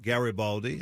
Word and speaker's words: Garibaldi: And Hard G is the last name, so just Garibaldi, as my wife likes to say, it's Gary with an I and Baldy with an I.